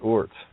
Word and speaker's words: Oort: Take the double out and take the half out, and you got Oort. Word becomes Oort.